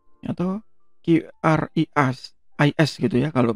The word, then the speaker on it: QRIS: Nah, khusus di Indonesia itu ada namanya QRIS atau Quick Response Code Indonesian Standard. Jadi dari pemerintah itu sudah mewajibkan para penyelenggara atau provider payment gateway yang menggunakan QR code itu untuk ikut QRIS atau QRIS gitu ya kalau bacanya.